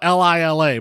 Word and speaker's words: Lila: Julia Quail is Lila, spelled Laya, spelled L I L A, but pronounced Lila.